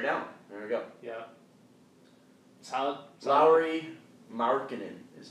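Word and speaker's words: Lauri Markkanen: one oh chair down there we go yeah low marinan is how he pronounced that Lowry marinan minck minck Jared alen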